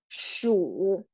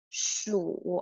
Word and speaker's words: 鼠: 次，松鼠。Remember, the 鼠 is going down first and then go up. 鼠，鼠，OK，松鼠，squirrel，OK，小松鼠就是 little squirrel.